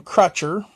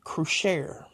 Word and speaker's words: Crochet: I've been calling him Crutcher. I guess it is actually Crochet. I guess when you're dealing with the French people, they like to pronounce their things a little different, especially their names.